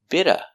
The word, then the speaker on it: bit of: vowels phonetically a little bitta bitta the t in bit is between vowels so it changes to a fast d2 a little bit of